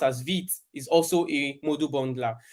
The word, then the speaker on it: Vite: So Rollup, Webpack, Parcel, Snowpack, Vite, which is pronounced as Vite, is also a module bundler.